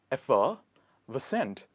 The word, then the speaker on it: effervescent: Do not get confused with the spelling and pronunciation. Let me help you. It's effervescent.